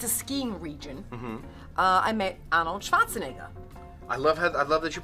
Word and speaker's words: Arnold Schwarzenegger: Okay, so I remember in one of these places in Austria, it's a skiing region, I met Arnold Schwarzenegger. I love that you pronounce his name correctly.